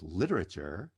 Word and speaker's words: literature: Literature is stressed on the first syllable.